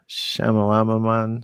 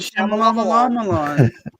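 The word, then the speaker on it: Shyamalan: Uh Shamalaman, how you say it, Scarlet? Shamalan.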